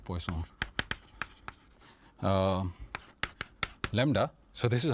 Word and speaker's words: Poisson: variable X is called Poison oh not poison like like we do it in it's a French name it's o n right so that's why you call it poisson uh Lambda so this